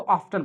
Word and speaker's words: often: इसे चाहे ऑफन पढ़िए चाहे तो ऑफ्टन पढ़िए, दोनों एक साथ प्रोनाउंसिएशन कर सकते हैं हम, चाहे ऑफन चाहे ऑफ्टन।